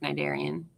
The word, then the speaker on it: cnidarian: or a nindocyte, actually, because it's like cnidarian. You don't pronounce the C.